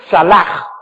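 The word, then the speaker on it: צלח: Jehová lo hacía salach, T-S-A-L-A-C-H, se escribe salach, T-S-A-L-A-C-H, se pronuncia salach en el hebreo.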